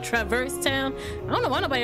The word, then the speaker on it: Traverse Town: Okay, so I used to, when I was a kid, I used to pronounce this world as Traveler's Town, not Traverse Town.